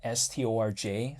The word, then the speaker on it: Storj: Siacoin, than Storage, but it's spelled like STORJ, so some people call it Storj, some people call it Storage, but you know what, it's tomato, tomato.